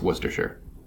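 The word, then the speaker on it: Worcestershire: UK and over there I guess they just call it Worcester but it's it's worcesters sure which is stupid because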